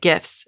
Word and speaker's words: GIF: of them are still photos they're basically like gifts and yes that's how you pronounce it gif I'm a gift person as